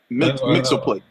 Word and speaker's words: Mxyzptlk: I say his name as it was pronounced in the Justice League. I never changed it from that. Mxyzptlk. I've always said, Mxyzptlk, we can go with that too.